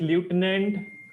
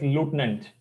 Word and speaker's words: lieutenant: Corel uh yes Lieutenant incorrect is Lieutenant the actual pronunciation is liutenant all right similar to